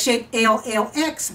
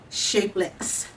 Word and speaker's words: Shapellx: you see it as shape llx but it's pronounced shapeless so they sent me